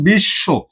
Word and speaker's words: বিশ্ব: Double double উচ্চারণ ঘটে। যেমন বিশ্ব দেখতো বিশ্ব আমরা যখন বলি বিশ্ব এখানে কি আমাদের দুইবার তালব্যস দেয়া আছে?